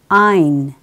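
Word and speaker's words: עין: The very final letter here is Ein. Ein, as for today, very much similar to Aleph. So you can pronounce it as Israelis would tend to do.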